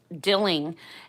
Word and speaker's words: Dilling: You can find me on Facebook under, hence my name, Dilling, and it's spelled like a dill pickle.